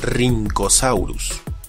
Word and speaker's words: Rhynchosaurus: Algo similar le ocurre a la RH, pues recibe una pronunciación con una R marcada, como la doble R del alfabeto escolar de antaño.